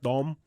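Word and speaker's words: đồng: And in Vietnam, they have the dong, Okay. which is actually pronounced dom, but it's spelled D-O-N-G.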